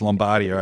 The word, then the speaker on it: Lombardia: or lombard and lombardia lombardi correct pronunciation okay over the other side of the west gate it's lombardia over there so there was